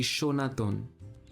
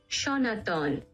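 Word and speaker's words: সনাতন: But the pronunciation of the word happens to be Shonaton. Sanatan. Shonaton.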